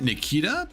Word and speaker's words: Nikke: They pronounced it Nikita, but I remember a very long time ago there was an old show on the Sony channel called Nikita, spelled with an I instead of an E.